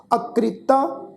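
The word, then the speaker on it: ਅਕ੍ਰਿਤਾ: जिहड़ी कक्के नूं सिहारी है ना जी, खासा ख्याल रखण वाली गल ये आ भी ये सिहारी दी मात्रा रारे अखर नूं ला के उच्चारण होएगी।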